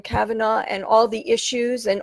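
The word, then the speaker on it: Kavanaugh: the supreme judge kava Cavanaugh that's how you pronounce his name Cavanaugh and all the issues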